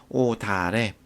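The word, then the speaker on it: 옷 아래: 그런데 자, 실질 형태소가 올 경우에는 대표음으로 바꾸어서 1번 대표음으로 바꾸어서 뒤음절 첫소리로 옮겨 발음할 거예요. 그래서 오 뒤가 되고 오다를 역시 대표음으로 바꾸어서 뒤음절 첫소리로 옮겨 발음하니까 오다래.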